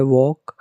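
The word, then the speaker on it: walk: परंतु यहां पर एल का उच्चारण नहीं होता। और यह वॉक पढ़ते हैं इसे हम।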